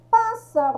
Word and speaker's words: pássaro: Pássaro, ó, pássaro já é a antepenúltima sílaba, tá?